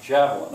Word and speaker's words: javelin: the classes uh vocabulary javelin how many syllables three which one's stress the first one javelin otherwise it would be javelin or lynn it's javelin i want the kids